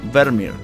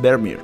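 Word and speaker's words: Vermeer: de los tres magnates vermier que en realidad Así como se pronuncia Así que a partir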